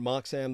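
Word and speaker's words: Moxham: like Rob Roy and uh Roi and then Mark Sam the surname is spelled m-o-x-h-a-m all right thank you thank you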